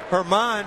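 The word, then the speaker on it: Germán: Herman spells his name German. The G is silent, but not his bat.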